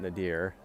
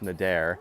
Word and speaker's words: Nadir: It's not Nadir. It's Nadir. But I like to throw a little E in it, a little long E into it.